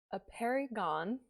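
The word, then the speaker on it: Apeirogon: So, A Perry Gone by Colum McCann.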